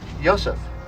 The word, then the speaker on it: Yosef: It's usually pronounced ha, but in Hellenic Hebrew it tends toward the O sound, ho. This is Yosef.